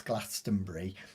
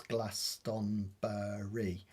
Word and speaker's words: Glastonbury: I always get annoyed when people pronounce Glastonbury as um four four syllables. Glastonbury, but rarely it's three syllables, Glastonbury.